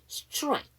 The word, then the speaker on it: straight: straight 할 때도 이것도 TR 사운드니까 QR, straight. 그 다음에 여러분 여기 보시면 묵음을 갖고 있는 단어 있어요. 그쵸? 세 번째에 straight, I 뒤에 GH이기 때문에 GH 묵음. 또 있어요. right에서 I 뒤에 GH 묵음입니다.